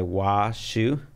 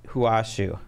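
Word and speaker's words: Hua Hsu: Yeah, I think that's Hua Xu, I think would be the right way to say it.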